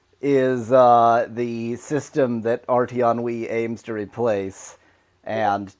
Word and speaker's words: RTEnnui: uh the system that rton Wii aims to replace and to rhyme with RTC it's RT on Wii so it it does